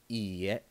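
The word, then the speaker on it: いいえ: The next word we're going to look at is how to say no in Japanese, which is iie. It's spelled i-i-e.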